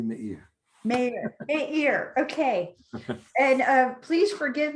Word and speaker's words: Meir: By the way, Catherine, I would love it if you called me Meir.